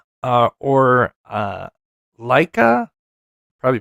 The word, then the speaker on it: Leica: Farro, F A R O, uh or uh Leica. Probably pronouncing it wrong. It's L E I C K C A, not CK. Uh, Leica, Leica, L E I C A.